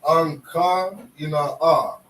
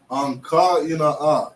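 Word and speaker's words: Ἐγκαίνια: This is, they would pronounce this Anka Ina'a. Anka Ina'a. That's how you say it in Greek.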